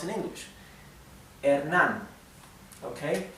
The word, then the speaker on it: Hernán: This has an accent here. Hernán. Okay, so the E, the H is mute, as I said before. The letter E is flat, E. The letter A is flat, A. Hernán. The N is typical N, and the R, I'll talk about the R in a minute, okay? So, Hernán. Keep in mind, try to